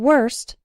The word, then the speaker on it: worst: And worst rhymes with first.